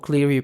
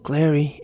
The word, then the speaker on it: Cleary: Se me va el nombre, yo lo leo como Cleary, pero se pronuncia Clary.